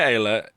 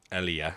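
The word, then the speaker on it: Aayla: My Ayla is not even unlocked. I'm not really doing this with any kind of hope of getting Ayla. Alia, sorry. I just pronounce it wrong.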